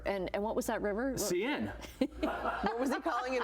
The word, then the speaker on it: Seine: Seine.